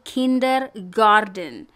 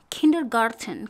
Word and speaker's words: kindergarten: kalau kalian perhatikan tadi saya tulis ini Kinder Garden yang tes saya ganti dengan deh pemirsa yang betul adalah pakai tes selesai sudah ganti dengan teh Jadi sekarang Kinder Garden Garden gak wes oke dibacanya gorden so kindergarden kindergarten kinerja forever Oke selesai